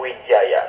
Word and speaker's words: Widjaja: Yang bertanya selanjutnya namanya adalah Julani Wijaya.